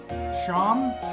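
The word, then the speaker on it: Seam: thank you okay talk about yourself named Seema pronouncing Shawn okay this is my little shop oh okay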